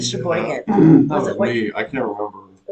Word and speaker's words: Sheboygan: Sheboygan.